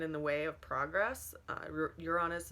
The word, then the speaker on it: Uranus: Uranus is actually Uranus. It can be pronounced so many different ways.